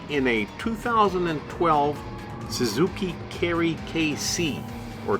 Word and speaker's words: Kei: We are driving in a 2012 Suzuki Kerry KC or K truck. We're driving it in a lightweight K Cup race, which is a a compact car race for Japanese K cars. That's spelled K EI, by the way.